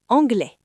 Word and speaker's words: anglais: Regardez le mot anglais. A-N-G-L-E-I-S. Le son s'arrête à la voyelle. Écoutez, anglais.